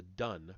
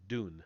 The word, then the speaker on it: Dun: narrow neck and is known as the dun pron or dune sorry pronounced it says pronounced dune du n.